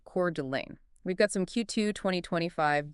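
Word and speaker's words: Coeur d'Alene: Specifically, Kurdelain. Kurd Delane. Exactly. Make sure we get that pronunciation right. Cord Delane.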